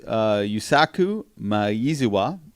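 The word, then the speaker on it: Yusaku Maezawa: well it turns out his name is yuusaku my easy wah and that's exactly how you say it he wants to go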